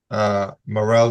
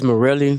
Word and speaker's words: Morelli: Is your name Morel? I pronounce it as Morelli, but yes, sir.